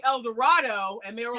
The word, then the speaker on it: El Dorado: street name now, but they pronounce it here, it's El Dorado. Huh? What? Yeah, so I kept saying El Dorado, and they were like, no, that's wrong.